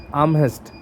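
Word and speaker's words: Amherst: खैर अब इसका प्रोनाउंसिएशन बड़ा क्रिटिकल है, मैं इसे अर्नेस्ट बोलता हूँ, हालांकि एन नहीं है बट याद उसी से होता है। इसका सही प्रोनाउंसिएशन है आर्महेस्ट, बट प्रोनाउंसिएशन क्या कर रहा है आप याद रखिएगा, आर्म हाथ है ना।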